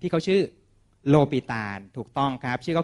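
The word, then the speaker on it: L'Hôpital: a l นะ ครับ อย่า ไป อ่าน L Hospital นะ ครับ เพราะ ชื่อ เข้า ไม่ ได้ เกี่ยว กับ โรง พยาบาล นะ ครับ ชื่อ เขา อ่าน ว่า โลปิตาล นะ ครับ โลปิตาล บอก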